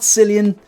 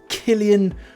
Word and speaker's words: Cillian: So it's not Cillian, it's not celery, it's Cillian Murphy.